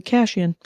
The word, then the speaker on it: Cation: She pronounces it Cashian.